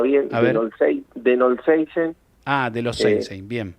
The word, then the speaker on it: De Knollseisen: mejor manera porque es el señor Noseisen, ¿así es el apellido? Buen día, bueno, ¿cómo estás? Bien. Gracias por llamar. No, Mi por apellido favor. es te lo voy a pronunciar bien, A ver. Denolseisen, Ah, de los Seinsein, bien.